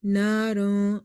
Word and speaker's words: نارا: So Dal is from the ikhfa letters. So here we will apply the rule of ikhfa. Naran.